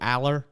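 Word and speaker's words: Allar: wrong um how do they say it drew Aller there it is uh 216 yards this all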